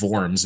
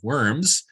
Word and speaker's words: Worms: Luther's testimony at the, Diet of Worms, if you want to do the German pronunciation, but most people say the Diet of Worms, an event in Luther's